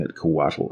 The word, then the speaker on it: Couatl: so during this video I'll be pronouncing at coatl as per the pronunciation provided in DD beyond or referring to the